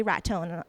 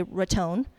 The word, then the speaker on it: Raton: Every time I search Red Zone, the first thing comes up is Boca Raton.